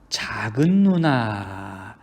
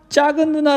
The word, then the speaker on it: 작은누나: 것도 사주고 잘해주는 누구 작은누나 인데 사람들이 짝은 용 짝은 누나 라고 발음하는 경우가 굉장히 많이 있습니다 그쵸 이런것도 있어요 뭐